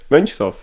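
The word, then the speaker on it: Mönchshof: Monshoff.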